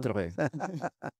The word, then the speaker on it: Sartre: ¿Cómo se pronuncia? Bueno, Yo, ya no. Sartre.